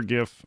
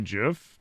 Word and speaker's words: GIF: There's no way it's actually GIF. That's, from what I understand, he said that that's how it's pronounced, GIF. Like George.